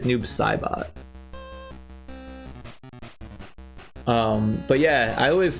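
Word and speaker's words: Noob Saibot: Um, but yeah, we all we always pronounce it Noob Sabbot, but I think it's Noob Saabot.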